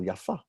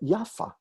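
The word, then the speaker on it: יפה: meaning as an adjective we pronounce it with the accent on the second syllable yaffa as a name we pronounce it yaffa which is how ashkenazim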